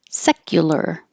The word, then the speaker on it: secular: And secular, secular. The U can change to ya because it's not stressed. So secular or secular.